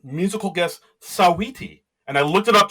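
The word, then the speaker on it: Saweetie: Uh we have Simu Leu uh you know Canada's own as the host and u musical guest Sawiti. And I looked it up just to make sure I pronounced it right.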